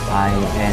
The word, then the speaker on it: Hiace: Di mana sebuah mobil travel Hiace apa nih bacanya? Hiace ya.